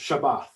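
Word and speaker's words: שבת: this word here this hebrew word here it's pronounced shabbat now that should sound familiar to many of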